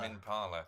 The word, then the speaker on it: Tame Impala: How do you pronounce Tame it? Impala. Tame Impala.